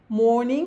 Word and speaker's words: mourning: Mourning, que tem o mesmo sentido, mesma pronúncia de morning aqui, que quer dizer funeral.